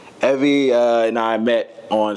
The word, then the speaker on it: Evy: with me today Miss Evie stto rhymes with Chevy Evie uh and I met